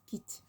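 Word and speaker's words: quittent: So instead of quitton, it's quitte, but it's written with ENT so that you know it's agreeing with il.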